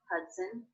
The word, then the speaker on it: Hudson: River the Hudson River did you notice how the second and unstressed syllable of Hudson was pronounced it's written with the letter O but there's the schwa vowel in there as an unstressed syllable it's very fast when